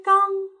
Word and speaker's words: 冈: 刚，韵母是后鼻韵母 ang，山冈。